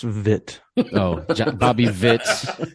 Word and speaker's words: Witt: that's not gonna help it's pronounced vit oh Bobby Vitz it's